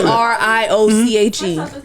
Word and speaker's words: brioche: how do you pronounce BRIOCHE? Bronchitis. What? The bread is called BRIOCHE. BRIOCHE. Brioche. Brochetti.